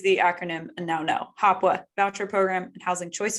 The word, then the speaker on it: HOPWA: We say it HOPWA, but it stands for Housing Opportunity for Persons with AIDS and HIV. Excellent, thank you. So I will use the acronym and now know. HOPWA, Voucher Program and Housing Choice Vouchers.